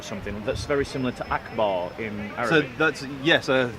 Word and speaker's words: Akbar: it we'll zoom in this one here yeah Akbar and it's pronounced Akbar yep right so every time if